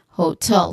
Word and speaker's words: hotel: so this is again hotel the stress is on tell the stress is on second syllable.